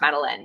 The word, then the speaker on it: Madeline: So it looks like the little girl who lives in a house covered in vines in Paris. But it's pronounced Madeline, not Madeline. Can I write it in the comments? Is that okay, Maddie? Okay. They left the house at 9:30, and rain or shine, the smallest one was Madeline. Except that's not how you pronounce my name.